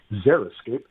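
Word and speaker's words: xeriscape: And zeroscape is not spelled with a zid a zed or a z. It's spelled with an x. X r i s c a p e. Zeroscape.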